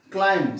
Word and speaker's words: climb: Climb, C-L-I-M-B. B is the silent letter.